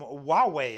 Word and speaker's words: Huawei: uses a power supply from Huawei I believe that's how it's pronounced it's from the HP